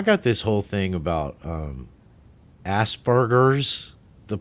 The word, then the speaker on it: Asperger's: I believe it is pronounced Asperger's. Well, let's pronounce it. I mean, where was the guy or the gal that sat there and go, Asperger's sounds horrible because it sounds like ass and burgers?